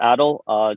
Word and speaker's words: Adel: And then just quick little, it's pronounced Adel. Just, you know, I had to just kind of, people mess it up all the time.